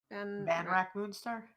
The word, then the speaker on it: Vanrak Moonstar: Karu, how did you pronounce that name, by the way? Which one? Vanrak Moonstar?